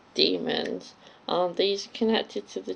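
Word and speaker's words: daemons: bridge babes belt Dae mo n but it's pronounced demons are these connected to the children and what this gobblers who's that so the oblation board are doing with mrs.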